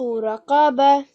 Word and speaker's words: رقبة: فك رقبة Bah. Try and make that h sound at the end.